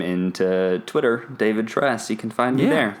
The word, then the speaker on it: Tres: name into Twitter david dress you can find me there that's the best way to dress like the spanish number for three just pronounced like a white person david so yeah thank you